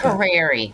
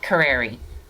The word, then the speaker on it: Carrieri: It's Carrieri. Carrieri. It's so beautiful. Oh, beautiful. Thanks. My husband's Carrier with an I. So it's like airline carrier.